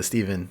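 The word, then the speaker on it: Stephan: It's spelled with a PH and an A, so you'd think it's Stefan, but no, it's Steven.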